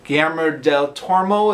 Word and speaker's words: Guillermo del Toro: Guillermo del Toro is how you pronounce it.